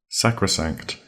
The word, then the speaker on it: sacrosanct: Sacrosanct. That's spelled S-A-C-R-O, sacro, S-A-N-C-T, sanct, sacrosanct. Now, sacrosanct sounds, well, the start of the word sounds a bit like sacred.